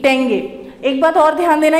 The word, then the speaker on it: tenge: Kazakhstan का जो capital है वो है अस्ताना, और इसकी जो करेंसी है वो है टेंगे, TENGE, टेंगे।